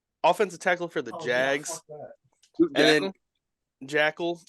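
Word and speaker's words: Joeckel: Luke ja jel offensive tackle for the Jags Jackal it's not spelled Jackal so that's weird that it's pronounced Jack it's like Joe and then ckel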